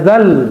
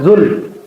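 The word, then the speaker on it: ذا الجلال: mulki ya badias samawati ya zal bukan zul ya zal jalali gitu ya.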